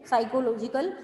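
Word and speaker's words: psychological: यानी मेंटली जो हमारा, हाँ जी, पी साइलेंट, एस साइलेंट होता है, सॉरी पी साइलेंट होता है इसमें, साइकोलॉजिकल and mental illness and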